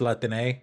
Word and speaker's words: Latine: By the way, Latinx is pronounced Latine. Again, anyone who tells you, oh, you can't pronounce it in Spanish is fucking stupid, and it's pronounced Latine.